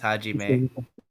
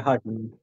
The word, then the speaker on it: Hajime: I'm pretty sure that's pronounced Hajime. Yeah. Yeah. Hajime.